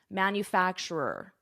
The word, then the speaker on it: manufacturer: That's a tricky pronunciation, manufacturer.